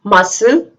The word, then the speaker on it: muscle: Next rule is that C remains silent if it comes after S.